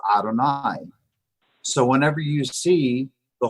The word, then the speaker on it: Adonai: Bible it's never pronounced this holy name of God is always read as Adonai so whenever you see